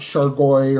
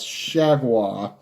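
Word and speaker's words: JT Chargois: name fool of you that's how it's pronounced it's not sure boy or shovel ah its shag wah and he will face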